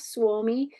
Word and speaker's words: Suomi: You see there on the left, Suomi is how you say Finland in Finnish.